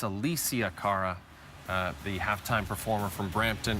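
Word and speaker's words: Alessia Cara: Franklin I apologized and you pronounced that Alisha Cara it's Elysia Cara the halftime performer from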